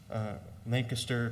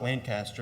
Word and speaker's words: Lancaster: family trip down to Lancaster, Pennsylvania. It's not Lancaster like the Southerns like to pronounce it, it's Lancaster.